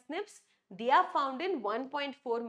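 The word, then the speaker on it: SNP: They pronounced as snips.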